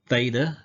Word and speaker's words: theta: Theta is the TH sound, th.